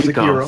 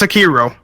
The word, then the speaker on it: Sekiro: How do I pronounce it? What did I say? Sekiro? Sariko. Sariko? I don't know what Sariko. that's Sariko. Sariko. It's Sekiro.